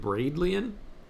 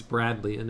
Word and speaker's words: Bradleian: And I mispronounced Bradleian. I guess I just didn't catch what that word was. I think I said Bradleian, but it's Bradleian, and I think your